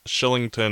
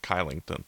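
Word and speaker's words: Kylington: about how to pronounce his name in Swedish of the letter K followed by a vowel means it's Schilling or SH sound so that's shillington instead of Chi Langton it looks like I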